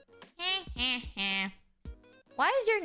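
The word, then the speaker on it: phở: be called Friend or Foe it's F why is your name theme sickle almost why AR actually guys it's actually pronounced a f and not pronounce as fo yeah a little bit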